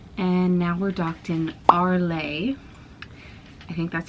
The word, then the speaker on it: Arles: I think last night and now we're docked in Arlay. I think that's how you say it. The S is silent.